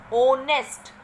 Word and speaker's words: honest: ओनेस्ट, same thing. H is silent here.